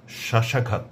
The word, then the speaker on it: শ্বাস: যদি শব্দের বা পদের প্রথম ব্যঞ্জন বর্ণের সঙ্গে বফলা যুক্ত থাকে তাহলে পরে সে বফলার কোনো উচ্চারণ হবে না, তবে বফলা যুক্ত বর্ণটির উচ্চারণে সামান্য শ্বাসাঘাত পড়বে।